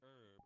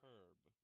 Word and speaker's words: herb: So, in the UK, they say herb as herb. Yes. Instead of herb, as in its French, as its French origin.